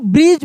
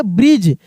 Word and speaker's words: bridge: तो इसको हम ब्रिज पढ़ेंगे। क्या पढ़ेंगे? ब्रिज। यहाँ पे डी साइलेंट है।